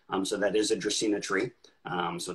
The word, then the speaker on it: Dracaena: things around and um the genus name or the Latin name of a draco tree is dracina um so it's phonetically phonetically pronounced on the back of the label um to help people